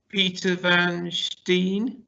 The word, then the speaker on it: Peter Van Steen: Okay, and Peter Van Steen from BMO. Have I pronounced that correctly?